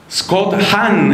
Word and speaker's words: Hahn: Uno muy famoso se llama Scott Hahn, ese Hahn se escribe H-A-H-N.